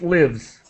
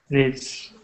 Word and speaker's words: lives: confusing word uh but this is the verb so it's pronounced lives lives mhm okay she is